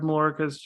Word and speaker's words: Mallorca: And am I pronouncing that properly now? Mallorca.